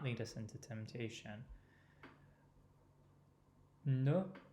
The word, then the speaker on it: ne: Ne rhymes with de. It's the same vowel, different consonant.